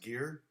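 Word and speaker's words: Gaer: his name was it it may have been pronounced gear and he uh he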